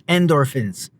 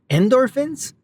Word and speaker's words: endorphins: Even a short walk can clear your mind and release endorphins. Endorphins? Endorphins. Nothing like putting the emphasis on the wrong syllable.